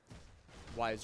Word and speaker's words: Ys: may or may not see the rest of, Ys Origins, or Ys Origins as it's properly pronounced.